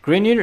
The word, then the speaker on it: Grignard: Okay, Grineer is for preparation of alcohols. Okay, so grid it's spelled Grignard.